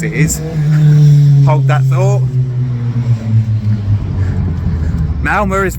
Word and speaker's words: Malmö: It's pronounced Malmö. I had to actually ask somebody for that. It's not Malmo with the O, it's Malmö, kind of.